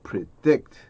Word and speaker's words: predict: They found that they could understand and predict. Predict 한번 보실게요. 강세가 이음절 있습니다.